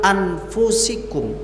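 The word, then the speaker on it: أَنْفُسِكُمْ: Jumhur mufassirin atau qurra, para ahli qiraat, membacanya anfusikum, yang merupakan bentuk plural atau jamak dari kata nafsun.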